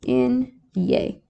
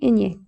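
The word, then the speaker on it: eñe: The way you would probably want to write this so you know how to pronounce it is Enye. Yay, you know, like you're excited. Yay, Enye.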